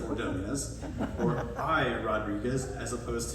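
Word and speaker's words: Ordóñez: baseball players such as maglio Ordonez instead of ordonias or by Rodriguez as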